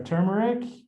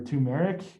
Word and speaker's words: turmeric: You'll notice that there are 2 bags, and our 2 bags include, one is our ginger and our turmeric or turmeric, depending on how you pronounce it, tomato.